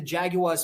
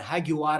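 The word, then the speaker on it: Jaguares: last weekend that included the Jaguars 15 the hagu as I should pronounce it correctly um which is a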